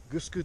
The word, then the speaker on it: 城: 城と書いてハブに注意、グスクと読むので、こ